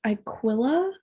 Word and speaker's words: Iquilla: So, Harold and I believe it's Aquila Degree. It's spelled Iquilla. So it's Mm. like Aquila.